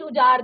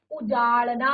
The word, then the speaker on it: उजाड़ना: से संबंधित अब देखिए यहां पर भी र ड ढ के उच्चारण में जैसे उजना कई बार होता है ना शब्द हम कहते हैं उजना सब कुछ उजार दिया उजार नहीं होता उजाड़ना होता है उजार कई बार इस